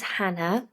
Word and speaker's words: Jana: Spanish half English and in Spain A J is pronounced H I think Juan jalapeno